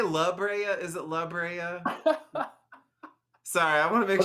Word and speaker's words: La Brea: I I see like I want to say laa but it's it's laa like Library does that help did that